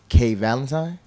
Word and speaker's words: K'Valentine: like a holiday yeah it's just pronounced it's like the holiday yeah man pleasure for